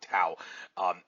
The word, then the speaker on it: Tao: I should say, yeah, it's pronounced Tao, not Tao.